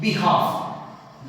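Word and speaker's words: behalf: अगर हम बात करें बिहाफ, बिहाफ मींस क्या होता है कि बदले।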